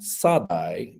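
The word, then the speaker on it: שָׂדַי: Okay, there's a poetic word that is said to mean field, but that is just Shaddai with a dot moved, and it's pronounced Sadai, but it's just a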